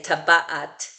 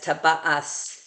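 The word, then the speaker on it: טַבַּעַת: talis, and a ring, which I would say taba'at, but they write it as taba'as because this taf without a dagesh in the middle in the Ashkenazi accent sounds like an S rather than like a T.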